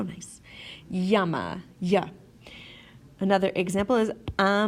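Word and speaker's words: llama: la la la sound but two L's together make a you sound such as in yes or yell okay a perfect example of this is the word Yama hey Yama like that like the animal Yama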